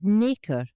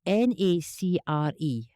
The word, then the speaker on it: nacre: By what name is nacre, that's spelled n a c r e, nacre, popularly known?